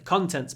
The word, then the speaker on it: contents: book contains it's the contents page what the book contains but the stress moves contains second syllable contents first syllable open your mouth contents contents okay number 93 what's in